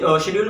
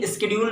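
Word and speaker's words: schedule: Demand शेड्यूल, शेड्यूल का pronunciation शेड्यूल भी होता है, बट फॉर a safer side we are using demand शेड्यूल।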